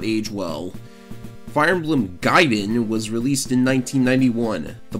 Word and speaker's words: Gaiden: same universe hence the Gaiden in the title the word means side story and is most definitely not pronounced gate in some characters from the